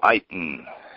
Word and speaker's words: Iton: Ado Keith Eon morning good morning Keith Keith Eon am I pronouncing your name right you pronounced it absolutely